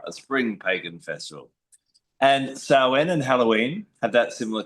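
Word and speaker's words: Samhain: Some people pronounce it snee but sen.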